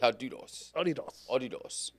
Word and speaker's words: Adidas: Oidos. Yeah, yeah. So, Adidas. No, Adidas has been cool. Um because especially that at that one time, one time frame where um Kobe um was with Adidas.